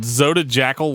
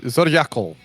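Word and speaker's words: Zodijackyl: favor pronounce track two is it Zoda Jackal light no zodiacal G the J is is uh not a j sound I used to call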